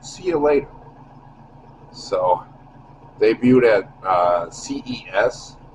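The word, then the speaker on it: Ciulator: It's called It's uh C I U L A T O R pronounced see you later.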